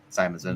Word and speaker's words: Simonson: Simonson. Yes, you pronounced it right for the first time ever.